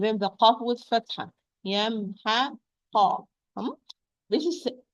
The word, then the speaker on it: يمحق: When I pronounce this word, I have to pronounce each letter alone. I will start, for example, with the ya, as a word is yamhaq. Well, it's a letter before. Ya with fatha.